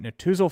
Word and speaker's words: Netusil: can reach them at Natuzel Financial Services of Raymond James by searching them online. Natuzel is spelled Netusil.